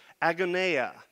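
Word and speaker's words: ἀγωνία: It's spelled A-G-O-N-I-A, agoneia.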